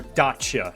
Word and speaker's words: Dacia: The Deacia Sandero or Dacia, how how they're how they pronounce it.